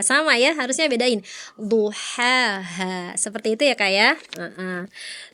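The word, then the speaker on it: ضحاها: Tadi kata kakak bacanya duhaha, sama ya, harusnya bedain, duhaha, seperti itu ya kak ya.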